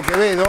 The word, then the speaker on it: Quevedo: Vamos a presentar a nuestros invitados, por acá lo tengo a Quevedo, que se pronuncia Quevedo.